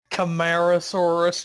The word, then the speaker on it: Camarasaurus: turd a long neck dinosaur named camarasaurus it's pronounced camarasaurus you nerds wait what why is it rearing